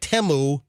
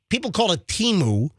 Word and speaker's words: Temu: If you got Temu, which that's the way you pronounce it, but people call it Temu, but the commercial says Temu.